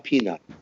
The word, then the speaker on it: Pinay: Spell that. Piney? No, Piney. Piney. Pinay.